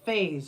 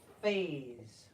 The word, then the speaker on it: phase: go with face faas this one has a little z sound that e and s there makes phas phas that was that the